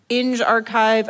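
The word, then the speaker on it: engrXiv: So Ag Archive is agricultural, Eng Archive, I think we decided that's how you pronounce that, is engineering, Sci Archive is obviously psychology, so forth and so on.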